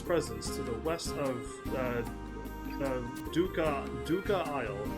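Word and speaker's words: Dvucca Isle: Said something about feeling an ominous presence to the west of Duca Isle. The V is silent. Why don't you check out Duca Isle yourself and take that coin with you?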